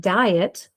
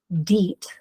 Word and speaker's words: diet: If I read the word using each pronunciation, deet and dite, neither form a familiar word. So that means the IE is not acting as a vowel team.